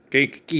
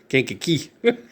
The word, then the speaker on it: Kankakee: Kankakee. You gotta say it like that. Kankakee.